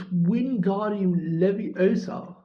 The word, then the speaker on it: Wingardium Leviosa: You're saying it wrong, Harry heard Hermione snap. It's Wingardium Leviosa. Make the guard nice and long.